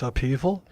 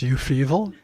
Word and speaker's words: upheaval: stayed old new yorker i had just learned practically to pronounce upheaval which i thought until i was 14 was you feeval so how did i